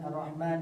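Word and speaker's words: الرَّحْمٰن: Biasanya kebanyakan orang-orang itu salah di dalam pelafazan arrahman dan arrahim. Ini hanya itu kebanyakan orang menyebutnya itu ha besar. Ha ha ha hi hu.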